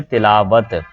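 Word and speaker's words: تلاوت: तिलावत का जो सही तलफ़ुज़ होता है वो इसके नीचे ज़ेर आती है, ठीक है, तिलावत।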